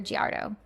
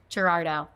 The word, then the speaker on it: Gerardo: Giarda. Am I saying it right? You're very close. It's like the male name Gerard and then add an O at the end. Gerardo.